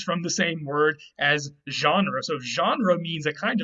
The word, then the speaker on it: genre: there what about genre genre actually comes from the root again as well as you can probably guess from the way we pronounce it genre it comes from french genre which just means a